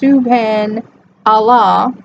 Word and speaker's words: Subhan Allah: me Ning nan Wow tone Subhan Allah pronounced Subban Allah to bring back our